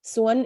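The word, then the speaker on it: ສວນ: in um Kamai um Swan is how it's pronounced in in Lao and I'm imagining how it is in Thai as well but um that's the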